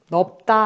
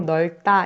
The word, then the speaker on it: 넓다: 넣어 불어 시작하는 경우 대부분 널 따 넓다 아니고 널 따 이렇게 리 엘로 발음이 되요 하지만 너 없든 굴다